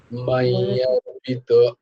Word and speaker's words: मय्यर्पित: बुद्धिर मय्यर्पित मय्यर्पितो मय्यर्पित এই যে উঞ্জটা তো এয়ার উচ্চারণ হয়, তাতে আবার জফলা লাগানো আছে, তাই জন্য এই অর্পিত অটা উজ্জ আছে বলে ওখানে জফলা এসছে, তাই জন্য উচ্চারণটা হবে মাইয়ার্পিত অর্পিত মাইয়ার্পিত পিতা পিত